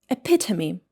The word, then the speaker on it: epitome: It should be epitome in British English or epitome in American English. I prefer epitome.